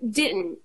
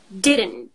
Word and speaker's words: didn't: say it it's like didn't didn't and we don't even pronounce the T at the end right and that's not